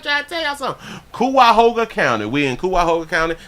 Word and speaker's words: Cuyahoga: Kawahaga County. No, that's wrong. Cuyahoga County. Got it. Cuyahoga. I can read. I'm trying to tell y'all something. Cuyahoga County.